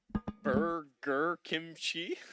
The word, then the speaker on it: Burger Kimchi: Um, it is pronounced burger kimchi. Burger kimchi. Oh, like the two two foods basically.